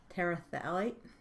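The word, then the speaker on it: terephthalate: freeze and the other monomer is talite you don't pronounce the pH there she's quite a different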